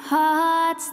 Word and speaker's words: heart: You're my heart's desire. Incendiaste mi mundo. Eres el deseo de mi corazón. Recuerda que la palabra heart se pronuncia con una A y no con una E.